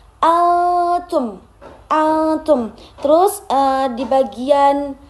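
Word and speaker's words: أنتم: Terus yang kedua itu di bagian antum ada di situ dilihat ada nun mati bertemu salah satu huruf ikhfa yaitu berupa ta. Jadi dibacanya samar antum.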